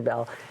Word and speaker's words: Beall: I do I used to work for Senator Bell Bell when he was in the County Board of Supervisors and I was the County Council so I know senator Bell senator Bell Abell on all his mailings and